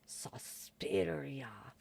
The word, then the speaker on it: Suspiria: I'm going to move on to the next film, which is an Argento film, Suspiria. Or if you say it like the theatrical trailer, Suspiria.